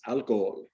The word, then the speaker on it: alcohol: um oh the h is silent so it's alcohol um c um um